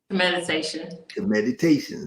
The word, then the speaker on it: Kemeditation: How do you pronounce it? Kemeditation? Kemeditation, right?